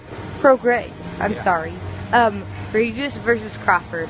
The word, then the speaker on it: Prograis: Prograis is how it's pronounced. Prograis.